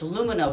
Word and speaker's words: Lumineux: dollars off so remember it's luminos spelled with an x so you can x